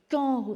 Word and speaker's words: quand: Mais on ne prononce pas le U. On peut l'écrire avec un K, par exemple.